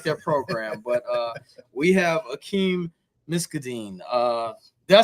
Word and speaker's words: Akeem Miskdeen: But we have Akeem Miskdeen. Did I say that right? Did I pronounce Yeah, that?